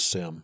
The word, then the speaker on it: CMMC: Um I'd like to point out the correct way to say it is sim. So sim.